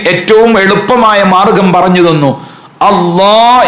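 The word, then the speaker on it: الله: എളുപ്പമായ മാർഗം പറഞ്ഞു തന്നു അള്ളാ എന്നുള്ളത് അല്ലാ എന്ന് പറയുന്നതിന്റെ അതേ സ്ഥലത്ത് വെച്ചുകൊണ്ട് പറയുക അപ്പൊ നാവ് ഒന്ന് വളച്ചു കൊടുക്കുക നാവിന്റെ നടുഭാഗം അങ്ങനെയാകുമ്പോൾ നമുക്ക് അതിന്റെ ശരിയായ ഉച്ചാരണം കിട്ടും അതിന്റെ മുമ്പ് കസർ ആയപ്പോൾ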